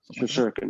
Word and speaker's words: Shesterkin: Oh, Shesterkin, is it? Shesterkin, yeah.